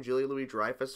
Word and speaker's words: Julia Louis-Dreyfus: is this oh julie julia louis-dreyfus that hair pronounced her name julie louie dreyfus of course seinfeld fame um and i think